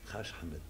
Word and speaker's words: Hach Ahmed: Haj, no sé si lo dije bien. Sí. Más o menos, más sí. o menos. No seas cordial conmigo, más o menos. ¿Cómo se pronuncia bien? Haj Ahmed.